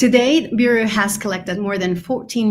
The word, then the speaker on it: Bureo: So Bureo, sorry, yeah. I was mispronouncing it.